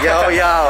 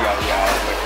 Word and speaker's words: Llao Llao: Double L, LLAO, bacanya ini nih, LLAO, yao yao ya, keren mas, keren. Kalau orang Spain, double L itu bacanya Y. Oh. Gitu, jadi yao yao.